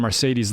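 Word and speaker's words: Marcedes: They signed Mercedes Lewis, who, I mean, his first name is pronounced like a sports car, so you'd think he'd be good.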